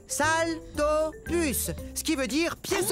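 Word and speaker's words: Saltopus: suis un salto puce ça se prononce salle dort plus ce qui veut dire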